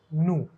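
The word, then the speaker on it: ν: Frequency ka symbol over here will be using, this is pronounced nu.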